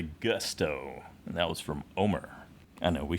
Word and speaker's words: Omar: Omar. Omar. Real quick. Instead of Omar. It's almost like it's one syllable when they do it.